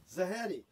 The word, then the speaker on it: Zahedi: name so we have it on the tape pronounced correctly is it zaheddy okay first question is what is the